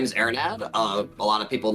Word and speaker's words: Arinad: like I've been mispronouncing Arin no you're good ainad okay so I've been pronouncing it correctly welcome man how are you